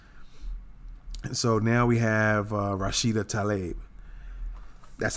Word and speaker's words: Rashida Tlaib: And so now we have Rashida Tlaib. That's how I'm going to pronounce it anyway.